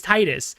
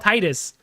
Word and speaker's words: Titus: It's Titus. In America, those letters spelled Titus. I don't give a In America, you say it right. You say it right. Say the letters as they're written. Say the letters as they're written right there. Titus Tide like the water.